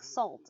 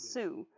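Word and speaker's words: Sault: be like taurus and pronounce it like salt it's sue so uh it's welcome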